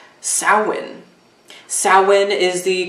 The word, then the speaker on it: Samhain: Samhain is the correct name and term, pronunciation for Halloween, which, you know, Samhain is the original holiday, pagan holiday associated now with Halloween.